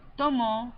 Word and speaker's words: tomó: You conjugate Elena tomó, accent on the O.